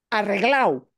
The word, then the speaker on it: arreglado: Pero fíjense, él no pronuncia arreglado, ¿sí? De forma muy formal y correcto, de manera correcta, se dice arreglado.